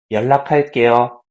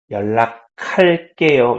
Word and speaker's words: 연락할게요: So 조금 있다가, a little later, 연락할게요. I will contact you. 연락할게요. You see this K sound, right? 연락할게요. Okay. So make that K sound if you want to pronounce it better.